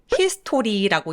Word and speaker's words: history: History라고 읽는. History가 아니라 중간에 O 발음을 삭제해서 S, T, R을 한 번에 엮어서 소리를 내주세요.